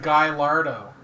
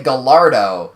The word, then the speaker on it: Gallardo: the Guy Lardo? Nope. The Guy Lardo. You're combining the correct and incorrect pronunciation of the actual The L's vehicle. are silent in that word. Yeah. But usually people say Gallardo.